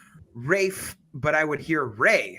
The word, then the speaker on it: Ralph: Ray then I look it up and he pronounces it Rafe so in case everybody sees Ralph out there it's pronounced Ray fines just for